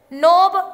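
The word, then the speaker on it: knob: Fill the blanks with the suitable silent letter. नोब, wrong, honour, इसमें भरा जाएगा के, K N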